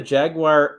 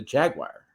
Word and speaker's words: Jaguar: So I had a Jaguar F-Pace, and I have a video review coming out of that.